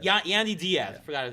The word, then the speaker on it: Yandy Diaz: Yandy Diaz. Yandy Diaz.